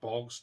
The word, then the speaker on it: Boogs: they have now have rick boogs or wrecked bogs depending on how you want to pronounce his last name during the guitar stuff